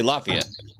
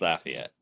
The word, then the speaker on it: Lafayette: I say Lafayette. That's what uh most folks say, but if you live here, it's Lafayette.